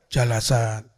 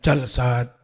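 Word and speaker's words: جلسات: tapi kalau bukan ajwaf Jalsah jalasat Bukan jalsat tapi jalasat tapi kalau kayak begini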